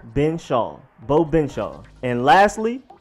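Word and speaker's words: Benzschawel: with all of that for the last name it's just been Shan simple bow been Shawn bow been Shawn and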